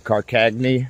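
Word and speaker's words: Karkaghne: Well, the Carcagny section is done, or so I've been told is how you pronounce it.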